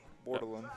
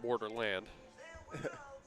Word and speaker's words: Bordelon: Bordelon. Bordelon. Not Borderland.